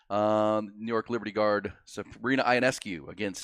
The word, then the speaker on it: Ionescu: New York Liberty guard Sabrina Ionescu against Ionescu. Thank you. I think I was mispronouncing it.